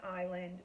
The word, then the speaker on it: island: about an English class like the s in Island or the G in phlegm he thought he thought